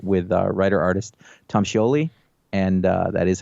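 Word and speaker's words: Scioli: creator interview podcast with uh writer artist tom sholey and uh that is how he pronounces it i asked beforehand because i'm a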